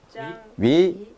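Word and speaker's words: 章鱼: 그다음에 어자 발음은 물고기 어자 발음은 위로 내는데 이성이니까 밑에서 위로 중간에서 위로 올라가란 말이에요. 위, 짱. 위, 위, 위.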